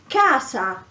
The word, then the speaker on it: casa: so for example in casa house um this letter c is pronounced k because there is the a after it oh for example uh